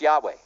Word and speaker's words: Yahweh: It's pronounced Yahweh.